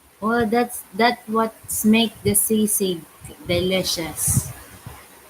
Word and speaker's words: sisig: well, that's the way it's spelled, isn't it? SIG. SISIG.